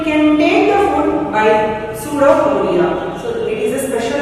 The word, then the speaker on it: pseudopodia: So it closes this vacuole, and this part of the amoeba is called as pseudopodia. Pseudopodia. Here we is silent.